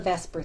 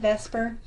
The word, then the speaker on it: VSEPR: Notice I say VSEPR, but it's not actually spelt out like VSEPR. So we know that we pronounce it as if the E and the S is traded places, but we know it's not.